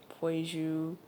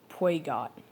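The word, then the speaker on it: Peugeot: Poiju. Yeah, that's how you pronounce. I think it's a German manufacturer. Yeah, it's Poiju, buddy. Some people say Puegot. Puegiot.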